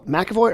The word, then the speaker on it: McEvoy: tell me where is uh first of all McAvoy or pronounce it please yeah you got it okay